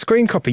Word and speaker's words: scrcpy: That's what I'm going to call it, even though it's spelled SCRCPY. But that's got to be screen copy.